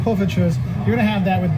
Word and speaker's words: Poffertjes: Poffertjes. Poffertjes.